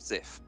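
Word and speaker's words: Zyph: Of Zif. Yes, Sub-Zif. Which, for reference, is spelt Z-Y-P-H. Zif.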